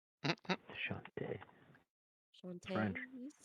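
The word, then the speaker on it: Chauntea: Oh, so that's how you pronounce her name. Shantae.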